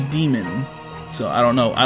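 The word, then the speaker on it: Daemon: It's spelled Damon, but they say demon.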